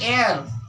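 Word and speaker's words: heir: भी हम यानी एयर यानी ह का उच्चारण हो मतलब ह दिखाई दे रहा है लेकिन उच्चारण स्वर वॉवेल्स हो रहा है, तो इसमें भी एन।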